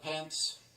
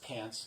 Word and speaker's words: Pants: and I've got Spectral Pants. It's pronounced pants. It's a Polish name. It's pronounced pants, like the pants you wear.